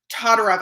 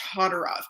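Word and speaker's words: Todorov: psychologist janine willis and alexander todderoff i believe it's pronounced todderov and in that study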